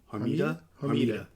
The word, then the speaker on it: Hermida: Hermida. That's how you pronounce it.